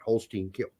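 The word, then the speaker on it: Holstein Kiel: more offers expected yes that is how you pronounce that Holstein kill so that's fine CA the leads fans hate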